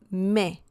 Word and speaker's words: me: Me, that's the pronunciation, me.